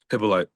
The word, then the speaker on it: Hyppolite: Hippolyte.